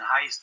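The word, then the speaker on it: Heyst: from that play and heist of course rhymes with christ he is he is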